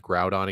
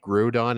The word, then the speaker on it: Groudon: I remember how the guy pronounced Groudon and Kyogre. He said Grudon and Kyogre.